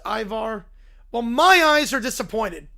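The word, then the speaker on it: Ivar's: It's pronounced Ivar.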